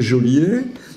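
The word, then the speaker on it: joaillier: ou ou jolier alors si on regarde de près il y a pas d'accent égu donc de toute façon c'est jolier et c'est aussi toujours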